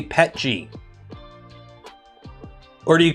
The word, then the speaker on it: PETG: Everything except the TPU tracks use Greengate recycled PET G.